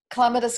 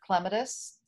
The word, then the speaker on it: clematis: So, the Rogerson Clematis Collection was started by Brewster Rogerson.